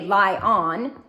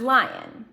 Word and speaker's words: lion: We're not going to say on, because we wouldn't say lie on. This is where that schwa comes in. Lie un. Say it fast as lion. That's that schwa.